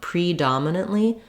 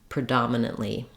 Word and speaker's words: predominantly: on the first syllable to start where the stress lies and then add back the syllables before the stress syllable then for our next